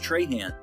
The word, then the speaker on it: Tran: first up is Mitch Tran I was actually told his last name is pronounced tra which is a Cajun pronunciation but my brain doesn't